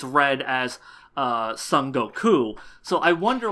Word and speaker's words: Son Goku: let you know that his name is pronounced Sun Goku and not Sun Wukong.